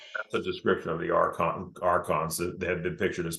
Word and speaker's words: Archons: They're pronounced Archons. Archons. With a K.